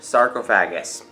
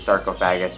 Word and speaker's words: sarcophagus: exactly like sarcophagus, but it is derived from 2 Latin words meaning flesh eater, and each word is pronounced a little bit differently, and based on the